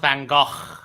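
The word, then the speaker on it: Van Gogh: Yeah, Van Go is a very Yeah, it's pronounced Van Go.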